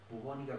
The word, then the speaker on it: bubónica: Bueno, los cuadros clínicos que presenta esta enfermedad, uno de ellos es la famosa peste bubónica, bubónica con B larga, con acento en la O.